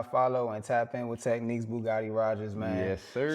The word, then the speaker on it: Tekneekz: It's Tekneekz. The way that it sounds is the way it's spelled.